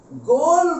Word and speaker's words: Goel: এই গুড কে গ্রিক ভাষায় যদি আমরা বলি, গোল বলে একটা শব্দকে আমরা পাই, GOEL, আর এর উচ্চারণটা হবে গোল।